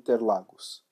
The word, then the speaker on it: Interlagos: Autodromo the Interlagos sorry I read that in English I'm Brazilian so this track is in Brazil so we usually pronounce that as Autodromo Cinque Terre lagos that's the native way to pronounce the track's name autódromo jean Ted Lagos